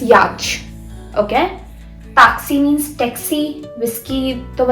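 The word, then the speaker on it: whisky: है जैसे कि अब इसको कैसे पढ़ेंगे विस्की विस्की इसको आप ऐसे भी पढ़ सकते हो गिस्की गिस्की ओके सो सिमिलरिटी है अब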